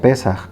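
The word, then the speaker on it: פסח: de la palabra pascua que en hebreo se pronuncia pesa que significa brincar saltar o pasar sobre ve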